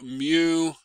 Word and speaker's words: mu: The friction force F is equal to mu times N. Let me write it better. Mu is a Greek letter, and you pronounce it as M and U, mu, okay?